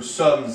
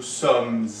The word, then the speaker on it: sommes: So the final S of sommes is pronounced. So we get Nous sommes allés au cinéma.